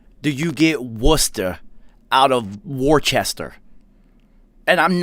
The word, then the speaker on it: Worcester: guess yeah d barry you would think it's worcester right i promise you they pronounce it worcester how the do you get worcester out of worchester and i'm not making this